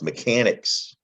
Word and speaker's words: mechanic: ancient latin language mechanic that ch makes a k sound doesn't it it comes from latin it's also a greek origin a greek root network and here's mechanicos which means mechanical and they actually use a k spell mechanic so it's the ch that you need to know makes more than one sound not just a chest sound but it can make a k sound too as in school stomach